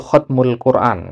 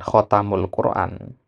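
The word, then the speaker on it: ختم القرآن: Kemudian ini ba sukun ya bukan khatam ya. Nah, yang benar itu khatmul Quran kan bukan khatamul Quran ya.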